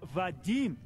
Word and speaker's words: Vadim: I am talking about Vadim.